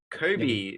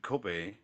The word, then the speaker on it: Kobe: another famous one we love our meat Boys Kobe the famous Kobe beef yeah uh it is